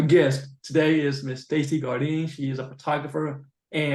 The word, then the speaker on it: Gardine: do Stacy yeah so my name is Stacy Gardine and first Dakota thank thank you for saying